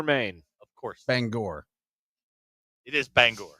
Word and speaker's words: Bangor: Shelby Howal from Banger Maine. Of course. Bangor. It is Bangor.